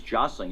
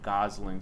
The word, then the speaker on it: Gosling: out I was like I think is josling you pronounce names weird every TV show I've seen is Ryan Gosling so if you want to call it josling go ahead but sound